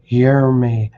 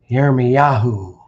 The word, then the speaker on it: Yeremyahu: And should have been transliterated as Yeremyahu. Yeremyahu.